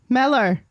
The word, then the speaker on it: Mellor: malor is a favorite you can just say like mellow you don't have to